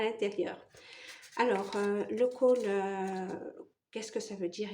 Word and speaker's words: khôl: à l'intérieur alors le col qu'est-ce que ça veut dire exactement alors ça s'écrit kho circonflexe l et en réalité ça se ça se prononce cool veut dire noir en